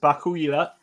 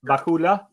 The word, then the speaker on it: Vakula: Is it Bakula? Vakula. Vakula, who is a kind